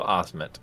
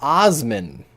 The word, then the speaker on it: Osment: it was Haley Joe Osment was the kid wait it's Osment Osmond I thought it was Osman no t I nope I've been saying it wrong all these years and